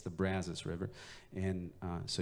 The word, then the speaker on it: Brazos: River is pronounced the Brazos River not the Brazos River or the Brazos River or the it's the Brazos River and so you just want to say it about as wide as you can and you'll be in